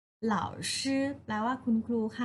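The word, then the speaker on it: 老师: เหล่า ชื่อ นะ คะ วิธี การ สะกด เลิก อ่าว หล่าว ชื่อ เล่า ชื่อ เหล่าซือ แปล ว่า คุณ ครู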